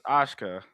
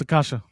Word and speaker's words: Akasha: It's Ashka. Did I say it? I I still can't say her name right now. I got I gota make it sure like No, it's Akasha.